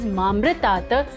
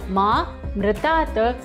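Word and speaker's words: मामृतात्: And the second mistake is while pronouncing mamritat, people mispronounce it as mamritat, which means ma mritat, death or mortality. For the right pronunciation, you have to stretch the ma little longer, saying mamritat, which means ma amritat, immortality.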